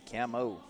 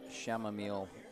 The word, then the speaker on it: chamomile: I know it's a CH. Yep, camo. I'm sure it's pronounced chamomile in certain circles, but it is quite delicious.